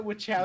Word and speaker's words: Wachowski: Lana Wachowski. The And Lily Wachowskis.